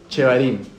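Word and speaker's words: shevarim: ¿Cómo se escribe? S H E V A R I y M. Chevarim.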